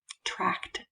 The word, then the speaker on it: tract: heard myself pronounce this it is the digestive tract which sounds a lot like digestive tract which would be ck and i just really wanted to point out tract with a t at the end spell